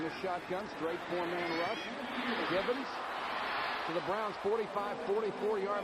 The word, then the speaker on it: Givens: When Givens first came into the league, Minifield purposely would not pronounce his name correctly. He'd say, what's his name? He'd say, Ernie? No. What's his name? Gibbons? Is it Gibson? Who is it?